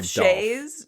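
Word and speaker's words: Schayes: Well, it's definitely Shayes. Dolph Shayes.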